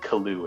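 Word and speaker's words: Caillois: l i o u s Koo but it's pronounced kaloo in French CA just write man playay and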